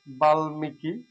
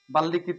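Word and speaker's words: বাল্মীকি: বলি না জন্ম বলি তারপরে ল এর সাথে বাল্মিকি বাল্লিকৃত বলি না বাল্মিকি বলি গ এর সাথে যদি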